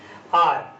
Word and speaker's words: hour: देखिएगा, अब देखिए इसको कैसे समझते हैं, जैसे आर, HOUR, ऑनर, HONOUR, ऑनर, ऑनोरेरी, या honest, HONEST, honest, honourable, HONOURABLE, honourable. तो अब यहाँ पर एच साइलेंट है, देखिएगा।